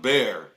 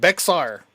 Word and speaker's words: Bexar: First time when I heard of Bear County, I thought it was Bexar too. I was like, Oh, Bear County. Bear, Bexar. Bexar. just say it the way it's spelled, Bexar.